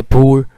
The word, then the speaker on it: poor: कि American English में ये वाला वर्ड जो है POOR, इसे पूर, और जबकि ब्रिटिश इंग्लिश में पुअर। लेकिन ब्रिटिश इंग्लिश में इसमें फोर भी प्रोनाउंस किया जाता है, ठीक है।